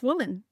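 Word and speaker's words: WOMN: It's women. It's women without the e or the a, so that it's not masculine. It's purely feminine.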